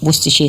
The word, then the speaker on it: Worcestershire: with a silent C-E-S in the middle, like Worcestershire sauce.